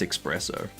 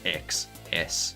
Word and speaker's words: espresso: Sorry, that's espresso. My bad. Espresso, not X. Espresso. Espresso. Bloody Americans got me saying it wrong.